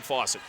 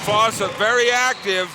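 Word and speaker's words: Fausett: Same pronunciation, different spellings of the name. F-O-S-S-A-T for Cole Fawcett. F-A-U-S-E-T-T for Peyton Fawcett.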